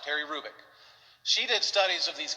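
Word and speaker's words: Hrubec: you h-r-u-b-e-c terry krubik the h is not pronounced terry rubick she did studies of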